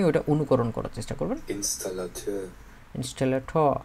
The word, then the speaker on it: Installateur: আসল উচ্চারণটা শুনে আপনি ওইটা অনুকরণ করার চেষ্টা করবেন। Installateur. ইনস্টলেটর, Installateur.